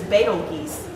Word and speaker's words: Betelgeuse: The actual pronunciation is Betelgeuse. It's for the star, not the movie.